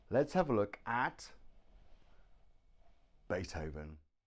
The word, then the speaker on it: Beethoven: and not even then so we have the letter V pronounced but now you put your teeth on your bottom lip here on your bottom lip and breathe Beethoven Beethoven the V is made